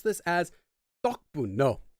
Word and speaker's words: 덕분: Angel Harmony is asking, can you pronounce this as 덕분? No. 덕 would sound like the rice cake. 덕, like basically like mochi. It's not 덕분, it's 덕분.